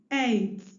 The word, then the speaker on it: eight: Eight, eight, eight. Remember your quadgraph 4 letters that make one sound. In this word, EIGH, sound A. Make the singular sound A with 2. Give us the word 8.